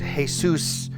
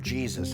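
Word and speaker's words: Jesús: I know in Spanish it's pronounced Jesus, and it sounds an awful lot like "Yay Zeus," like you're cheering for the Norse god or something, and you're not.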